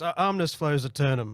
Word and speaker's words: Omnis Flows Eternum: But yes, Omnis Flows Eternum, and that's how I pronounce it, and there's probably a million better ways to do it.